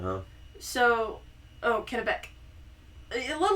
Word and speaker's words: Kennebec: In August 1607, the Plymouth Company landed about 100 men at Sagadahoc on the Kennebec Kenneby River. Yeah, the Kennebec. What's that? So that's C silent, huh? So, Kennebec.